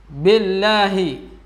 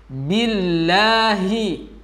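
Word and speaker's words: بالله: Ada sebagian yang membacanya b, billahi. Kalau enggak seksama mendengarkannya maka terlihat biasa. Tapi ketika kita dengarkan dengan baik maka akan terdengar berbeda. Billahi, yang betul bi, billahi.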